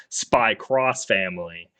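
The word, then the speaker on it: Spy × Family: working on sry so in Japanese it's not X it's cross so spy cross family in the first three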